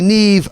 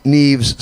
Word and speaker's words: Neve: Guillonnet, Roman Kinzinger, Charlie Neve and Kieran Stewart. Now I have to make an apology here, Jacques. Earlier on, I mispronounced Charlie Neve's second name. I called him Charlie Nev, but it's Charlie Neve.